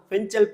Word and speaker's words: Fengal: மதியானம் 2:30 மணி அளவுல இந்த பெண்கால் புயல் அதாவது நம்ம உச்சரிப்புல சொல்லணும்னா பெஞ்சல் புயல் அப்படின்னு சொல்லுவாங்க இது வந்து பார்த்தீங்கன்னா உருவாகிடுச்சு